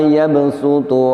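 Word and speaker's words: يبسط: Maka litakhfif, untuk meringankan agar lebih mudah dibaca, maka shadnya di sini diganti bunyinya dengan huruf sin. Perhatikan sekali lagi. Wallahu yaqbidu wa yabsutu wa ilaihi turja'un.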